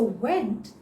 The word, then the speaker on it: went: So went is the past form of go. How do you pronounce it? Yes. You pout and say went.